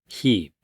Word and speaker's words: heap: 그런데 여기 heap이라는 단어를 먼저 볼 필요가 있는데 heap 길게 발음하세요. heap 한번 보겠습니다.